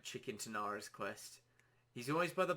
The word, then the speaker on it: Tanaris: I pronounce it Tanaris. Well, I did pronounce it Tanaris, but now I'm sort of leaning into pronouncing it as Tanaris, just because it sounds a bit more professional, I guess. In a sense, it sounds a bit more clean than Tanaris.